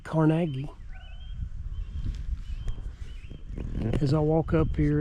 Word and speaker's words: Carnegie: We're at Dungeness, one of the ruins of the Carnegie's family, or as they pronounce it, Carnegie.